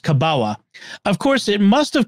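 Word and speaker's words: kabała: into common use in the Polish language as kabawa uh which is looks like it's an element but it's pronounced kabawa of course it must have come to common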